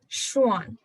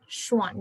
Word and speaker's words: Schwann: उसके बाद एक और साइंटिस्ट थे एंड श्वान, SCHWANN, श्वान, डबल N है। ओके, स्पेलिंग नाम बहुत अच्छे से याद रखेंगे।